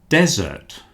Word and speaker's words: desert: There is another word desert. Desert which is a large area of sand. You will see that this one only has one s and the stress at the beginning of the word desert.